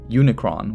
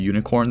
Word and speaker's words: Unicron: ep the occult him Unicron which apparently I've been pronouncing as the Unicorn this whole time West Side Doom DJ